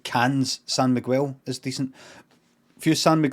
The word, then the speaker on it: San Miguel: wrong son sam miguel you say santa miguel san miguel is it what do